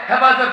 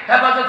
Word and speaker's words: হেফাজত: এইতো আলকায়দা পাওয়া গেছে হেফাজত হেফাজতের নামে এক ব্যক্তিকে ধরে নিয়ে আদালতে দাঁড় করিয়েছে ওই ব্যক্তি হেফাজত শব্দ উচ্চারণ করতে পারে না হেফজত হেফজত হেফজত বিচারপতি